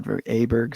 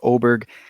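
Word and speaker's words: Åberg: in my past podcasts I call him l aberer so I it's l oberg I forget where he's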